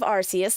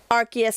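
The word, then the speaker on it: Arceus: But um yeah, Archus Arcus for anyone who's about to attack me. I go either or. I don't care how it's pronounced. I will go either or. You know, Selby, doing saying that just makes me want to say Arus instead of Archus cuz I have people call it both ways.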